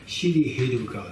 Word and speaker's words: Shri Heruka: Okay, Shri Heruka. So it has how many parts there? Shri He Ru Ka. There are the 4 sections there, four syllables there.